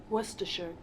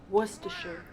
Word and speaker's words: Worcestershire: Is everyone ready to listen on what the British pronunciation is of this? Worcestershire. Worcestershire.